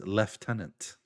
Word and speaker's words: lieutenant: But yeah, people are making the point like that's but even worse thing is how you pronounce um lieutenant as left tenant which I know.